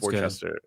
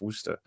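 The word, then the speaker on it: Worcester: sir wer yeah well it looks like it's pronounced Worchester Worchester but it's it's wer oh I think we talked about this before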